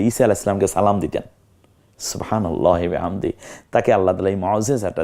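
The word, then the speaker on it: سبحان الله: উত্তর আপনি ফাঁকে চেনেন পরেরটা সুবহানাল্লাহ হবে না সুবহানাল্লাহ হবে কোনটা সহি সুবহানাল্লাহ পর হবে আউজুবিল্লাহ না আউজুবিল্লাহ কোনটা হবে আউজুবিল্লাহ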